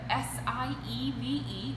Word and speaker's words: sieve: your screen that is called a sieve s-i-e-v-e but it is pronounced sieve same purpose that one